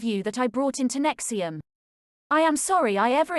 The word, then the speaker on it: NXIVM: NXIVM, pronounced NXIVM, is a group that